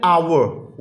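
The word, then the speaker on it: hour: देखें, सारा had returned after an आवर। ये देखें, इसको आवर प्रोनाउंस करते हैं, ठीक है। तो इधर देखें आप, एच अगर हमारा म्यूट है तो ओ वॉल है, इसलिए हम क्या करेंगे, एन लगाएंगे। Yusuf is an honourable citizen,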